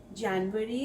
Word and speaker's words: Januar: German J sounds like the English Y. So, Januar starts with Ja sound, not Ja.